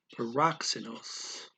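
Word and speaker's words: παράξενος: Okay, and we have that X in there. That's a KS sound. The K goes to the syllable before it, and the S goes after. So you got the K in rock, then plus the S in se. Paroxenos.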